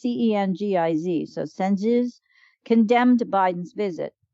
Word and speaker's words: Cengiz: Khashoggi's fiancée, Hatice I don't know how to pronounce her name. It's Cengiz.